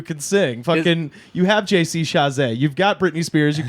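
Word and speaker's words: JC Chasez: Fucking, you have JC Chazé. You've got Britney Spears. You've got Christina. There's a million Thank children. you for pronouncing it correctly, by the way.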